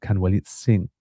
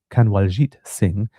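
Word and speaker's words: Kanwaljit Singh: Authorities believe the man Canwellit Singh no let me pronounce I think that was wrong Kanaljit Singh was also an intelligence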